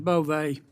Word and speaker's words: Bove: Bove, I'm looking at your resume. It's Bove, right? Bove, Senator, like Bove, with a long I E.